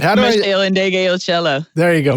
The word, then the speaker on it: Meshell Ndegeocello: Oh, you don't even know if I can pronounce her name right. Meshell Ndegeocello. There you go, Meshell Ndegeocello.